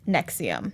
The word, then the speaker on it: NXIVM: that cold it's an ex IVM and it's pronounced nexium okay yeah because Annie did a really really